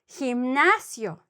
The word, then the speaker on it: gimnasio: Otherwise, it would be like H, like, that guy, Germán. Or gimnasio, the gymnasium, gimnasio, like a he, y, he.